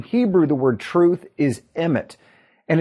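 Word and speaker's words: אמת: And in Hebrew, the word truth is emet, and it's spelled aleph mem tav.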